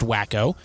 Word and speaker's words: Waco: It's pronounced Wacko.